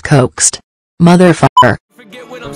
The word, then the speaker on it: Kowkst: The fuck, Kowkst is trying so fucking hard right now. It's pronounced coaxed.